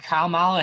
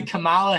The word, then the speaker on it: Kamala: because last night uh vice president um candidate kyle mila harris actually said to kamala harris i think it's kamala oh it is